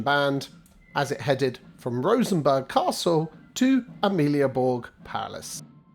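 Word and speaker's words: Rosenborg: us perfect timing so Rosenberg Castle not Berg as I incorrectly pronounced is yet another Royal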